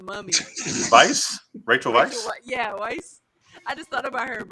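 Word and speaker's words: Weisz: Yeah, Weiss.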